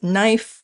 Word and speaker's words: knife: As we can tell from the spelling, historically, they were pronounced with a K at the beginning, a consonant cluster, kn, objectively difficult to say. Over time, people stopped pronouncing the K.